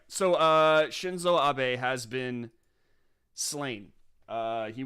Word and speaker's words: Shinzo Abe: party since 2012 how do you go about pronouncing his name shinzo abe i was right i was right i was like so uh shinzo abe has been slain uh he was shot uh